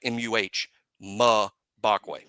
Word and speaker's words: Mbakwe: Mbakwe, it's not Mbakwe. I've been saying Mbakwe like you pronounce the letter M forever. And then That's how I've been saying it. Mbakwe. It's Mbakwe. Bakwe, like M-U-H, Bakwe.